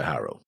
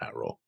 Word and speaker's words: Haro: I still wonder who built this particular Haru. We say Haru because that's how they say it, but it's it's Romanized Haro, but it's Haru, not Haro.